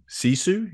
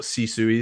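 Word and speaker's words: sisu: your book about this is in search of cisu is that how to pronounce yeah can you uh can you tell us what cisu is and yeah yeah C is a a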